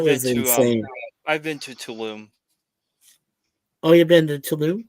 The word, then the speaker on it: Tulum: I've been to Tulum.